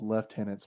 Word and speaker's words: lieutenant: Like the amount of captains and lieutenants they're called left tenants by GW because it's the British pronunciation.